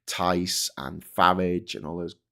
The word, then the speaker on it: Tice: Tice rhymes with lice.